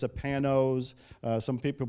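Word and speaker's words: Panoz: handmade very rare pretty expensive car it's a panos some people pronounce it penos but panos paynos the one i have is name thank you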